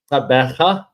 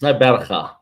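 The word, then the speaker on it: Gqeberha: But in South Africa, with that, the G and the Q together, it's normally a sound. Good luck trying that. So it's not easy. Tabaga.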